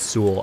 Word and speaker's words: Seoul: I keep calling it Seoul. I feel so bad. I know it's pronounced Seoul, but like something about seeing the word makes my brain read it differently because I don't say it every day.